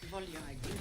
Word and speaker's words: voglio: The G is pronounced like the Y here, it's soft. No. So the first bit is like voi, and then we hear yo. Voi. Voglio. The L can sound quite swallowed up.